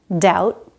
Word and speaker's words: doubt: There's another case where the B is silent. When it comes before a T. Debt, subtle, doubt. No B sound in any of these words.